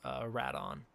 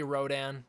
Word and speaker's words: Rodan: it is actually pronounced rat on but I say Rodan because that is again the preferred Toho pronunciation and that's also what